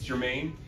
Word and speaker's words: Germain: Did I pronounce it right? Yes. Good. Germain.